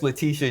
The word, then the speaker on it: Letitia: You're adding an extra syllable. No, I'm not. It's Leti. Tia.